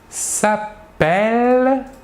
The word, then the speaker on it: s'appelle: Nous dirons « il s'appelle ».